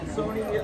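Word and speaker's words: Sohni: Sony, her name is spelled S-O-H-N-I. It's pronounced like the TV, but it's spelled differently.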